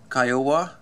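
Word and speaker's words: Kiowa: helicopter named after comman that one is kyowa it's similar to Iowa but uh the Iowa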